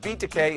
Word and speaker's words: Takei: I give Takei an A, which rhymes with toupee.